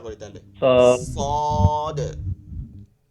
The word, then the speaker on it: صاد: الذين আচ্ছা صاد صادের উচ্চারণটা করি তাহলে, صاد صاد। দ صاد এটা শেষে কিন্তু বানানে নামের ক্ষেত্রে এখানে দেখবেন দাল আছে, এর জন্য একটু দালটা কলকলা হয়, কলকলা আস্তে আস্তে পড়বো আমরা।